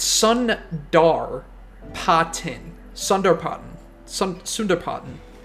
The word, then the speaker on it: Sundarpatan: started calling this map saratin but I don't think it's saratin I think it's sundot Su depart s it so there's an R it's Sun dar poten Sunder poten Sun Sund